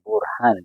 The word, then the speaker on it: Burhan: Ho già detto tanti giorni fa come H non si pronuncia in italiano così, Burhan, loro mi chiamano Burani.